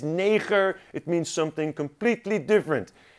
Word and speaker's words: neger: Now, zoen means kiss, and neger, it's not what you think. It's not like Americans say it. It is neger.